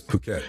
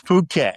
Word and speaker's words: Phuket: how it looks but that's not how they pronunciate it. But it Thailand. Oh, it's Phuket. It's Phuket.